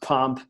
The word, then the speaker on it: Pomp: Now, the nickname Pomp, I mean, obviously in America, I'm sure it's Pomp. It's pronounced Pomp. But I'm not sure if you know this, but in South Africa, we're going to say Pomp, right?